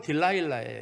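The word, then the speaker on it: Delilah: 발음이, 이게 이제 우리나라 말로 들릴라란 말이에요. 히브리어로 데리라예요. 데리라입니다. 히브리어로는. 영어로는 딜라일라예요.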